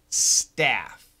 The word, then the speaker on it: staff: big difference Patrick stuff staff stuff that's a short u uh like fun Fu n fun stuff stuff and St FF that's a short a like happy or apple so staff so give the stuff